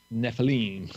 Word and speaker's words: Nephilim: Nephilim, yeah, pronounce it right.